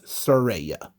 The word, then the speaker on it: Saraya: You know, her name is not pronounced how it looks. It's Saraya. It looks like Saraya, but we speak English. So S-A-R is not pronounced the same as S-I-R.